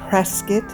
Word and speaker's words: Prescott: and Dodge City, Kansas, he ended up in Prescott and Tombstone, Arizona. And yes, it is pronounced Prescott and not Prescott.